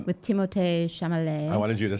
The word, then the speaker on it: Chalamet: With Timothée Chalamet.